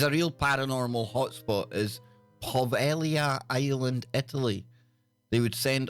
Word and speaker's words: Poveglia: So this place, Poveglia, or Poveglia, pronounced Poveglia.